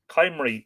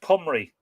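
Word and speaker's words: Cymru: y m or y chimery was how i was pronouncing it c y m or y um mandy says it's like following a thread and nora gaffney says uh i agree fascinating brilliant ah just be kind to saying it's pronounced comrie well there you go i was pronouncing it wrong what a shocker yes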